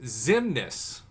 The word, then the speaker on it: Xemnas: know me as uh zemna's pronounced zimnis zimnis i never in million years would have got that right zimnis i usually communicate